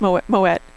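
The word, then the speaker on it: Moët: It's Moet. It Well, people pronounce it Moet, but it's supposed to be Moet.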